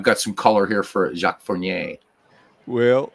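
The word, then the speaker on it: Jacques Fournier: some color here for jacqu forier well I'm glad the way you say it because I say it Jack fornier so I'm obviously am saying it wrong anyway he's the fifth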